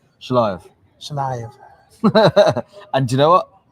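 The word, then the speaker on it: Shelajev: And you and Oleg, our mutual friend Oleg Shalajev. Did I mispronounce that badly? You did, but that's fine. Shalayev.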